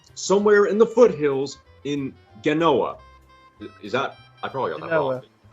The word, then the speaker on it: Genoa: in the foothills in genoa is that i probably on that okay yeah soft g not g noah like genome oh no it was